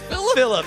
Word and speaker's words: Felipe: the one and only it's just pronounced Philip it's Philip sometimes it's not boys